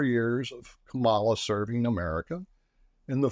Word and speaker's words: Kamala: I'll begin with the pronunciation of the vice president's name, which is Kamala Harris. Kamala Harris, taught to us and the American people during the DNC by her nieces, grandnieces, that is.